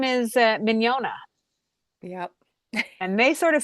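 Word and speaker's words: Mignogna: But Miniona had two silent G's.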